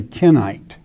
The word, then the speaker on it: Kenite: This is why many times when I say Kenite, I'm not saying Canaanite, okay?